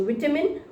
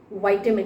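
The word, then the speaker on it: vitamin: तो विटामिन या विटामिन की कमी है, ये विटामिन खाने हैं, तो दो pronunciation, विटामिन, वाइटामिन, both are okay.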